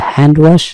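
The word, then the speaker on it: handwash: এবার চলে আসে হ্যান্ড ওয়াশ, এখান থেকে খেয়াল করবেন হ্যান্ডসামের ক্ষেত্রে বলেছিলাম ডি এর উচ্চারণ হবে না, কিন্তু হ্যান্ড ওয়াশ, হ্যান্ড ওয়াশে কিন্তু ডি এর উচ্চারণ হয়, সেটি খেয়াল করবেন।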